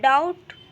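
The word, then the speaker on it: doubt: और दूसरा जो है, अगर किसी वर्ड में बी टी के पहले आता हो तो वहाँ पर भी बी साइलेंट होता है। जैसे कि देखिए डाउट, तो यहाँ पे देखिए बी जो है वो टी के पहले आया हुआ है, तो यहाँ पे बी जो होगा वो साइलेंट होगा।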